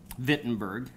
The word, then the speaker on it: Wittenberg: board in Wittenberg, Saxony, Wittenberg in the German pronunciation.